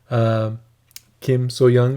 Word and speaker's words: Kim So Hyang: Kim So Young is, I believe, how you correctly say her name.